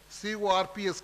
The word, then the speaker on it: Corps: My dear friends, students of Islamia College formed a separate organization called Khilafat Volunteer Corps, C-O-R-P-S, pronounced as Corps, Khilafat Volunteer Corps, to spread the cause, cause of Khilafat.